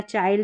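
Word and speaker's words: child: वाइल्ड, bind, mind या चाइल्ड, इस तरीके से हम प्रोनाउंस करें। अब इसको फिंड करके, विल्ड करके, बिंड करके, मिंड या चिल्ड ऐसे नहीं पढ़ते हैं, आई का साउंड आई करके होता है।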